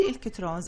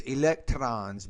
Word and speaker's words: electrons: an energy levels so I think you're saying electrons electrons but we don't really pronounce the r as hard as you're doing so I would just say electrons electrons to the Exclusion Principle